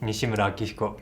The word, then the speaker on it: Nishimura Akihiko: In case anyone is curious, it will be Nishimura Akihiko in Japanese pronunciation, and I'm assistant professor in the department.